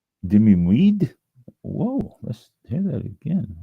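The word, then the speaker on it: demi-muid: And it's pronounced dimweed.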